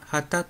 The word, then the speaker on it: 傍: めんどくさい様です傍から見たら結構なホラー第三者の立場からという意味の時は畑と読みます寝起きの頭に